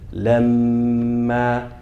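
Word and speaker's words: لمّا: Meme mushaddada. We pronounce it with what? With that same ghunna that we do for noon. Mushaddada. We hold it for what? 2 counts. So it should sound like this. Lamma. And notice the ma has what? An alif, so that's 2 counts. So the meme that you double and the a that you pronounce should have the same length. That's how you can kind of measure yourself.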